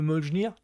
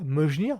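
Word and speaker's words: Mjölnir: Je crois que c'est le fameux Mjolnir. Je prononce bien, Mjolnir.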